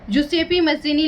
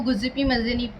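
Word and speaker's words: Giuseppe Mazzini: जुसेपी मज़ीनी लिखा हुआ है ना बेटा, ये इंग्लिश में इसको गुज़िपी मज़ीनी पढ़ा जाता है, तो कोई दिक्कत नहीं है, मतलब प्रोनाउंसिएशन थोड़ा डिफरेंट है, बाकी है वही बंदा मतलब।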